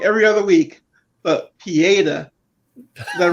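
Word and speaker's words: Pietà: the whole comic book thing and i was pronouncing wrong every other week but pieda is that right this time yeah it's a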